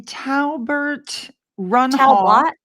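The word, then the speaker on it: Talbot Runhof: Can anyone pronounce that? It's a Talbert Runhoff.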